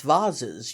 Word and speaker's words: vases: are turning out creditable vases which we pronounce vaz's you may be sure for formal gardens